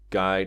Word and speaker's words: Guy: You basically can't go wrong with a guy that kind of alias.